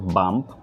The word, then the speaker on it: Bump: অনেকে বলতেছে বাম্প, আবার কেউ বলতেছে পাম্প। সো কনফিউশন হওয়ার কোনো কারণ নেই। এটা মূলত উচ্চারণ হবে বাম্প, বি ফর বাম্প, নট পি ফর পাম্প।